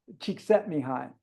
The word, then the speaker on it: Csikszentmihalyi: It's really hard to pronounce. Csikszentmihalyi.